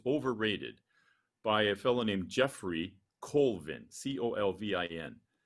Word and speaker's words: Geoffrey: Talent is Overrated by a fellow named Jeffrey Colvin, Colvin. His first name is spelled Geoffrey.